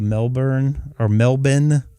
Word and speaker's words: Melbourne: He is just, I believe, a little bit north of Melbourne, Australia. That's the proper way to say it.